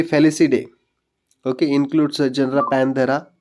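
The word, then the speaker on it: Felidae: what a reproductive feature example family very less we pronounce this family fallacy day okay includes a general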